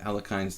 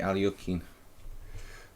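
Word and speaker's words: Alekhine: by Al yukin's defense sometimes I call Al kind's defense I try to sound American but it's actually Al yukin Al yukin if we try to pronounce it by the true the true Russian pronunciation of the former world champion two Hungarian International Masters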